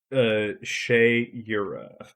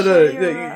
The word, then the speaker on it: Shayura: Shayura is I how keep I'm. saying it wrong. I'm sorry. Well, no. Shayura.